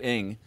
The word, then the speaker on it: Ng: of their best people Andrew Inge his last name is spelled ng he runs Coursera and